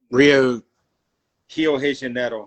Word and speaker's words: Rio de Janeiro: Rio de Janeiro is how you say it in Portuguese.